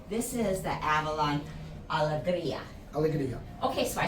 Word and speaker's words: Alegria: Alegria.